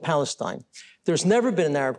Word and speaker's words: Palestine: In fact, Arabs can't even pronounce the letter P. They can't even say Palestine. They say Palestine.